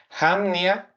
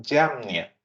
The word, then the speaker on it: Jamnia: es el concilio y aquí tenemos dos pronunciaciones, Jamnia o algunos otros también le llaman Yamnia.